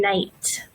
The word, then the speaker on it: night: this quite commonly and the K is silent and it's pronounced just like n so we have no knife and night can anybody tell me